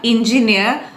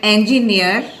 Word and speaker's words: engineer: designs and builds things it's not engineer but engineer the engineer used a